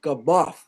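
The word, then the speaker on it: Gamow: reuben did wait uh jim it's it's george gabot believe it or not it's g-a-m-a-o-w but it's pronounced g-a-m-o-f-f believe it or not how's that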